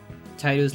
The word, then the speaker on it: Tidus: Everyone I knew said Tidus like Tide.